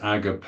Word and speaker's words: agape: of love which is agape in Greek AG g a p e with an accent on the E Agape that means more